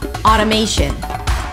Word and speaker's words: automation: I think the most important feature here is the flap T, because there is no T. It actually sounds like a D. Auto. Auto. Not automation, but automate. Primary stress, automation. Shin at the end. Automation.